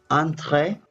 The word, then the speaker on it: entre: to understand okay but the correct pronunciation yan is antre because it's French which means between and P which